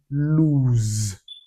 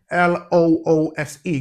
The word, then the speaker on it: lose: Letter S can also give us the Z sound as in the word lose. Lose. So while the S in L O O S E gives us is pronounced loose, the S in L O S